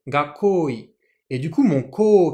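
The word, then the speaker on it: 学校医: Le médecin scolaire, ça se dit en japonais gakoi. Ici, uniquement la pause, mais que l'on ne prononce pas, et le ko sont en haut. Gakoi.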